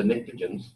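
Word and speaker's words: pnictogen: the chalcogen least the nikah jhin's starts with a p with the P is silent and then the rest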